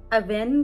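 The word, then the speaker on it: Avène: या कई लोग इसे अवीन भी, ये दिख नहीं रहा होगा मैं नीचे लिंक कर दूंगी, कई लोग इसे अवीन भी बोलते हैं, बट I think the actual pronunciation is अवेन और डर्मालॉजिका।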